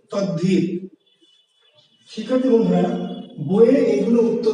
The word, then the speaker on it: তদ্ধিত: আমরা লিখছি তদ্ধিত দয়ে ধ, কিন্তু আসলে উচ্চারণ করছি কি তদ্ধিত।